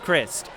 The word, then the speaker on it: Crist: task of shocking game it is pronounced crist not the other way don't worry she